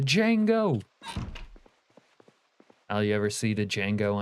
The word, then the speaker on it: Django: The J is silent. The Django.